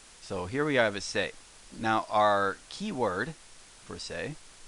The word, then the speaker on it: せ: so first things first let's give the pronunciation s e or say so this is say as in say say hello jose sale say well